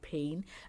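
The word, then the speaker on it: peen: So 1 E is E, for example, pen, and 2 E's are A, for example, pain.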